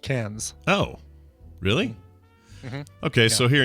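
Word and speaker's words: Cairns: r here we pronounce karen's karen i would say yeah yeah but in australia it's pronounced cans oh really okay so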